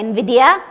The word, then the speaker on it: Vidhya: First of all, they often ask me how to pronounce my name. I refer to the popular company which is called Vidhya.